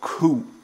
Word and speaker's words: coup: called coupe it's called a coup with a silent P 22 debris it's a